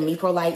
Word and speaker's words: Meprolight: I think that's how you pronounce it, Meprolight.